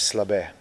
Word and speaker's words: Slabe: So my first name is and my last name is Slab.